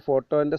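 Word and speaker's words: photo: fast fund ഫോട്ടോ ഫോട്ടോ ഫോട്ടോക്ക് പി എച്ച് എന്ന അക്ഷരങ്ങളാണ് വരുന്നത് നമുക്കറിയാം ഫോട്ടോന്റെ spelling P എച്ച് ഒ ടി ഓ ആണ് ഫോട്ടോ പക്ഷേ അതിൻറെ സൗണ്ട് സിംബൽ ഫ് ആണ് ഫൺ ഫൺ ഫോൺ ഫോൺ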